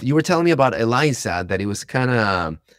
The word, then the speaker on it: Eliza: it name was Elisa Elisa I don't know how do you pronounce that is it with is with a z Eliza Elisa yeah Eliza much better names than